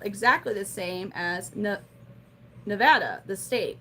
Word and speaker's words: Nevada: If you go and you're like, "Oh, I'm going to go drive through Nevada, Missouri, or go to Nevada to visit my grandma." They're like, "You mean Nevada?" That's just how they say it.